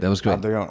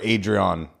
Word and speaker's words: Adrion: Adrion, or Adrian, as the dumb Americans say.